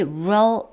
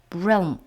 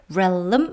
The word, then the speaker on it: realm: realm 해서 L과 M 사이에 모음을 집어넣어서 realm 뭐 이렇게 하면 안 된다는 것이죠.